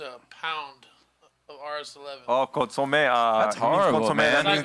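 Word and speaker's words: consommé: I dropped a whole cup of consume into a pound of RS11. Oh, consomme.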